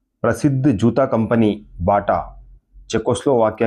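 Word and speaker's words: Baťa: है प्रसिद्ध जूता कंपनी बाटा चेकोस्लोवाक की है वहां इसका उच्चारण बाचा किया जाता है जब अमेरिकियों ने पहली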